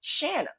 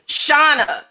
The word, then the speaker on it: Shauna: But our names are spelled the same exact way. And she's telling me and my mom that it's pronounced Shanna. Oh, that sounds very familiar. It's Shauna. She's wrong.